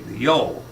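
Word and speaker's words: Gjøa: Now, during this period, 1903 to 1906, the Norwegian Raoul Amundsen made it through the passage in his little sloop, the Yo. That's G-J-O-A, pronounced Yo.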